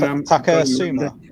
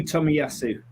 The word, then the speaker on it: Tomiyasu: Takasuma, is it? Takehiro Tomiyasu. Tomiyasu, that's it.